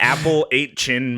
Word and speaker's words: Appalachian: Melania that's true yeah Melania is is a regional pronunciation of it much like the Appalachian mountains yeah the Apple eight chin mountains uh all right well